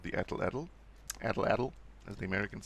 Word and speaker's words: atlatl: Now, another example that, and I love this thing, is called the atlatl. Atlatl, as the Americans say, atlatl.